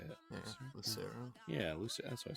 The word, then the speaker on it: Lucero: by Lucero Lucero how do you say it Lucero yeah Luc that's what I said uh Vince